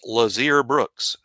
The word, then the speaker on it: Lotzier Brooks: 44 is Lotzier Brooks. Lotzier Brooks. Notice I said Lotzier if you were here for the pronunciation His show. nickname is Lots, though. His nickname is Lots, but Lotzier Brooks.